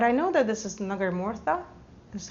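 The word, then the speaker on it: nagarmotha: There's a feeling like it's woody, but I know that this is nagarmortha.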